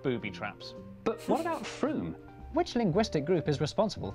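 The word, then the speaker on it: Frome: like froome yeah like you're not gonna know it's pronounced froome just by looking at it like that but to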